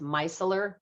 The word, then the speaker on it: micellar: So this is 17 and it's pronounced micellar, but you can spell it mice, M-I-C-E, Micellar Water.